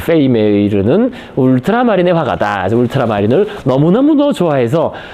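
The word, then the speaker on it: Vermeer: 그니까이 베르메르는 페메 메이 그 네덜란드식 발음으로 어 그 페이 메이르는 울트라마린의 화가다 울트라마린을 너무너무너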